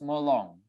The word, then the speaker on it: Molong: Note, Molong, a Penan word, is pronounced Molong, with stress on the second syllable.